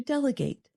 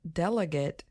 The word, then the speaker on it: delegate: a related verb to delegate and there is a pronunciation difference so the noun delegate has stress on the first syllable D and the verb